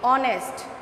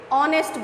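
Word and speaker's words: honest: আমরা উচ্চারণ করছি কি অনেস্ট। C here H is silent, H এর সাউন্ড কিন্তু আমরা পাচ্ছি না, আমরা কিসের সাউন্ড পাচ্ছি? ও, তাই না? আমরা হনেস্ট বলছি না, আমরা কি বলছি? অনেস্ট বলছি।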